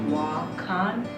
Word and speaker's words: Wakan: co-creator of wacon boxing pronounce wah Khan and it is Lakota for sacred these are sacred treasure